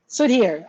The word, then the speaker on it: Sudhir: How do I pronounce his name? Sudhir? Sudhir.